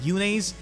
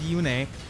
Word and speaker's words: Yune: So I think I'm going to stick with that, because Yune sounds like June, and it's not June yet, it's still March, so it doesn't make any kind of sense. I'm going to stick with Yune.